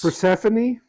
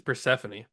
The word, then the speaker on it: Persephone: I think it's Persephone. yeah, I think it's Persephone.